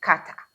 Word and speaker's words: KATA: which we say it's KATA.